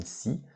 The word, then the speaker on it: scie: Une scie, ça c'est une scie manuelle. D'accord? Donc une scie. Attention à l'orthographe, hein, c'est S-C, comme ça. Une scie.